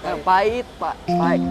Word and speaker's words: pahit: Oh sama ya Iya pait pait pahit ya terus the pronunciation is pait the pronunciation is pait